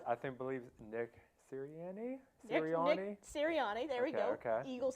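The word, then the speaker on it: Sirianni: so I I do want to hear Tom pronounce the name I am I think believe Nick siriani syriani there we go okay Eagles head coach go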